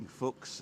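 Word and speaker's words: Fuchs: going oh she's swearing Fox is the German word for fox and it's spelled f-u-c-h-s Focus yeah yeah there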